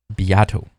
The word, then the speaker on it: Beato: is music getting worse hey everybody I'm Rick biato we're gonna try something new today this video